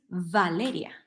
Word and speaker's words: Valeria: of video and I've heard myself saying my name is baleria my name is Valeria but it doesn't matter in in Spanish it really doesn't matter because it doesn't change the meaning in English it does